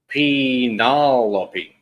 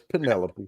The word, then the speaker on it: Penelope: Orlando says palopy. Penalope. Penalope. Penalope. Penalope. Yeah. No, it's Penelope.